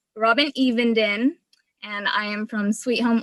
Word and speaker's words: Evenden: robin if you could come on robin um evan is did i pronounce that correct you are from i think you're from uh idaho right no it's it's robin even and i am from sweet home oregon oregon i